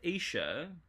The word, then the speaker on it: Isha: So, Isha, or Isha, pronounced Isha, is woman in Hebrew, or Eve's second name, of Adam and Eve fame, right?